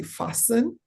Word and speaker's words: fasten: something like fasting please let's note that the T is usually silent so that would be fasten I heard exciting for exciting and I heard a little wrong pronunciation of the word entrepreneur.